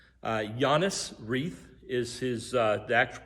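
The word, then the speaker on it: Johannes Reith: John Reed, who's the dad's name, Giannis Reith is the actual pronunciation.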